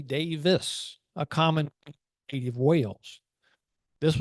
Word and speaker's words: Davies: his name as Steven Davies when the correct Welsh pronunciation of his name is actually Davis a common native Wales